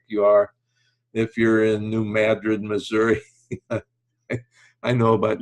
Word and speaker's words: New Madrid: Missouri I know about New Madrid that's where the earthquake was but when everybody sees it they think it's Madrid but David North in Missouri we don't know how to pronounce the English language so anyway it's just